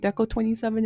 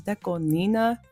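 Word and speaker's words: DECO*27: I know sometimes it took me a while to figure out that Deco 27 wasn't Deco 27 and it was Deco Nina.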